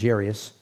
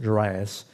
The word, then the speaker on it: Jairus: story where Jesus goes to the house of Jairus sometimes pronounced Jiraiya's and his daughter is sick when Jesus first